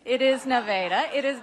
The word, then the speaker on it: Nevada: It's great to be back here in Nevada.